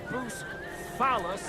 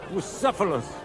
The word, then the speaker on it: Bucephalus: What kind of name is Bruce Phallus anyway? It's pronounced Bucephalus, this cunt.